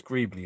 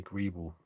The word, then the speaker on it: Greebly: pronounce greeb or greebly it's greebly anyway i always say grebel because the le is like an all sound but is greebly as uh greg kriebley said you know pronounce my name correctly yeah i can imagine